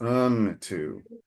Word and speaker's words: unto: he and an altar into the Lord who appeared into him. Okay. One suggestion uh it's it's a fun funny uh word unto. You're pronouncing a little bit like into, but it's unto.